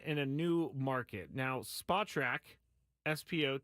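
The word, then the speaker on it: Spotrac: himself in a in a new market now spot track SPO t a yes it's pronounced that some guy told me that one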